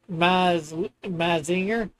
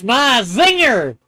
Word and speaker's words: Mazinger: It's pronounced Mazinger. It's Mazinger.